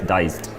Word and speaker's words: Dized: a few weeks and it's spelled I'm just showing this so it's d ized like digitalized push together so it's diced oh that's a better